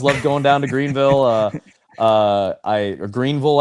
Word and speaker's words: Greenville: Greenville, I think is is how they make sure to pronounce it with a U.